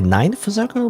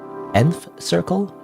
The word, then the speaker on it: Nth Circle: your pronounce by way I want to say Ninth Circle but it's not ninth right it's nth nth Circle in circle okay take